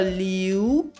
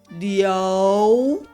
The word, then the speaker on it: 刘: 是了有刘，很多学生会念成英文的刘，但这是错误的。刘的正确发音是第 2 声的流，不是英文的流。